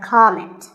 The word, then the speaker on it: comment: or as a verb the first syllable is always calm so it's never a comment it's a comment word number 11 is